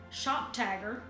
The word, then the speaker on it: ShopTagr: into the browser extension Shop Tagger. I'll spell that here because it's not spelled like it sounds.